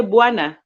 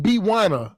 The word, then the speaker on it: bwana: don't pronounce the W no you do pronounce it you say bwana oh I was I was saying B wanna oh no no no